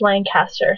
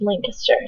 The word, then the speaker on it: Lancaster: that we go to all the time is pronounced Lancaster spelled the same way but when I got there I was I was told it was Lancaster so I went to Lancaster and I went